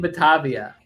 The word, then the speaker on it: Batavia: Wow, it's so I have to make sure that I say it right, because I keep wanting to say Baratier from One Piece, and that's not right. Pirates in Batavia.